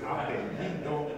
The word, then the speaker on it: apellido: Apellido. And pronounce it slowly.